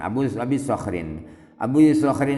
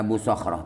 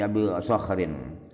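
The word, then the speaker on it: أبو صخر: Abi Sakhrin Abu Sakhrin itu adalah Abu Sakhrin tanpa ha itu tanpa tak marbutah setelah di akhir, bukan Abu Sakhrah tapi Abu Sakhrin.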